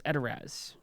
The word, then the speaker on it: Edoras: Gandalf says, "This is Edoras.